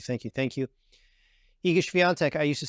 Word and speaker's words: Świątek: And the guy, the sports anchor said Swiatek. He said Iga Świątek. I was like, dude, we can't say that. We gotta learn how to pronounce her name. Iga Świątek. Hopefully, let me know in the comments if I'm getting that pronunciation a lot better. I say Iga Świątek now.